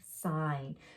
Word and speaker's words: sign: a sign hello okay sign so the g see the gn is at the end the g is quiet we skip right over it and go to the n sound so be on the